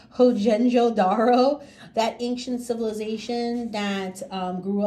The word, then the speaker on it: Mohenjo-daro: You're going to do a dot on the, I hope I pronounce this right, Mohenjo-Daro, that ancient civilization that grew up along the Indus River.